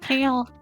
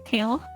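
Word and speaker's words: Kalé: Merchant Kale. Yeah, merchant Kale, but like a kale.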